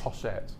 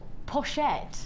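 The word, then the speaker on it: pochette: e p o c it's French it's French for pouch poset it's French for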